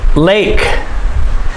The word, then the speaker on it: lake: so it's lake a lake you must pronounce the k lake plateau plateau it sounds